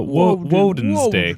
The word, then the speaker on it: Wednesday: day do you think it's Wednesday yeah because it's uh wen's day day that's why it's spelled all weird so uh he's got